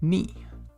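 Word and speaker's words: に: Next up, this one looks a little bit wacky, but it's pronounced ni.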